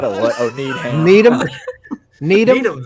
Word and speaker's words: Needham: Oh, need ham.